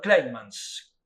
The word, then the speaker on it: Kleinmans: Pero yendo directamente al tema de hoy, nos visita nuevamente Hernando Kleinmans, bien con la S bien pronunciada.